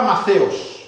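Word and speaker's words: μαθητής: La primera palabra es la palabra Maceos, que se escribe Mateos, TH. Maceos.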